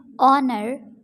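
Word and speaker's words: honour: हैं अंदाजा लगाने को ऑनर एजाज यहां पर ए साइलेंट है ऑनर एजाज नरो नरो बोलते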